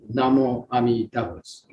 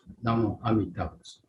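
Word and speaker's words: Namu Amida Butsu: And in other words, say Namo Amidavus. Namo Amidavus. Namo Amidavus. It's in a Sino-Japanese pronunciation. In Chinese, Namo Amidafo or something like that.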